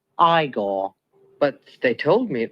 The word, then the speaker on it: Igor: it's Frederick Frankenstein I see you must be eigor no it's pronounced igore but they told me it was eigor well